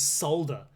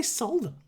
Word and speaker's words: solder: say it just say solder just say so they're like there are plenty of words that go al just say Salta they'll way you don't pronounce the L are there any other